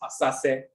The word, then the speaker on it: asaase: It's not simply saset, it's asaase, asaase.